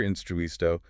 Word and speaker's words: instruisto: Or the word for teacher, instruisto, the stress falls on the I just before the final O.